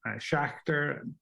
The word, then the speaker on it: Schachter: fourth uh speaker um uh is um dr schachter uh forgive me if i'm pronouncing uh your name incorrectly sir i would